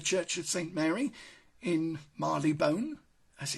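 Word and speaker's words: Marylebone: except of course it's not actually pronounced like that Mary labone station again is in the heart of London but the way it's pronounced is like this Marley bone and this is one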